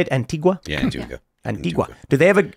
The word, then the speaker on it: Antigua: Yeah, Antigua.